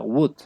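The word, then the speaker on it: would: l sí se pronuncia Wood Ok profe gracias Sí en ambos la l no se pronuncia listo De hecho hay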